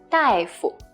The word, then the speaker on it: 大夫: So it's this word, 大夫. 大夫. 夫 is also neutral tone here.